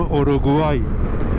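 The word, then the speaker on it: Uruguay: اینو میگم پاراگ واوای به اونم میگم اورو گوای حالا و ماها خیلی چیزا رو تغییر میدیم اسامیشون و ولی من فکر می‌کنم بهتر باشه که حداقل اسم و مثل اسم اونطور که خودشون تلفظ می‌کنن و هست بگیم حالا خیلی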